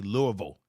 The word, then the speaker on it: Louisville: what is it there's people say Louisville or Louisville and people that live in that part of Kentucky they say Louisville so this young man